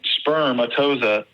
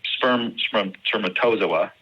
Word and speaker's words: spermatozoa: to find during the the medical exam sperm sperm atoza spermatozoa I said it wrong one first time um